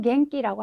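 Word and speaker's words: 元気: 얘는 우리가 기본적으로 우리 여러분들 키라는 발음을 많이 알고 계실 거예요. 지금 나와 있는 갱기라고 하는 단어 잘 아시죠?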